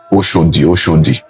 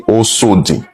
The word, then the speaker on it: Oshodi: So many names were corrupted, like Oshodi, which they call Oshodi. You understand? It's originally Osodi. It's an Edo word.